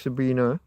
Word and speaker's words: Sabine: Sabine ends with an E but but pronounced Sabina Hosenfelder.